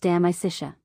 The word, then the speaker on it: De Amicitia: We finished Livy and De Senectute and are now engaged with De Amicitia, pronounced De Amicitia.